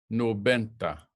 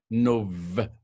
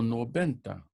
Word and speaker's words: noventa: So don't forget, we want to make this B. We want to make this a soft sounding B. It's not like in English. So we're not going to say noventa. It's very soft. So noventa, noventa, noventa. Not a harsh sound on this. It's like a soft B.